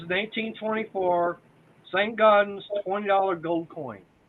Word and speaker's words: St. Gaudens: Oh, the St. Gaudens. Saint Goddess double eagle. The $20 Saint Goddess. St. Gaudens.